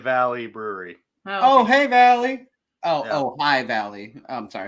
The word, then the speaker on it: Ojai: It's Ojai Valley Brewery. Oh, hey Valley.